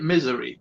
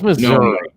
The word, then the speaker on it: Missouri: Misery, not Missouri. No, it's Missouri. No. Missouri, not misery.